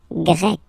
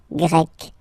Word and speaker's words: Grec: get Grec, masculine form, Grec, feminine form. You write them differently, but then, if you listen carefully, Grec, Grec, you pronounce them the same way, okay?